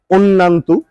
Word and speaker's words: Annayanto: এই নামটার full meaning হচ্ছে হলো, বা ফুল উচ্চারণ হচ্ছে হলো অন্যান্তু, যেখানে ANNAYANTO, যেখানে অন্না, আমি আমার ওয়াইফকে ডাকি যে অন্না বলে, অনন্যা পুরোটা বলি না।